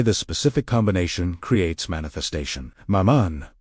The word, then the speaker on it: Mammon: Mammon, pronounced mammon.